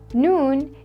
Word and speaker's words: نون: is the letter noon the letter noon is equivalent to the English letter N noon is easy to pronounce